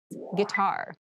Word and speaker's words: guitar: casual clothing casual clothing guitar guitar guar this word has kind of an interesting spelling it starts with GUI but we pronounce this as G so a guitar is